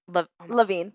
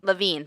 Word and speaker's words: Lavigne: But yes, it's it's pronounced Lav Lavine. Lavine. Thank you. A Lavine. Ava Lavine.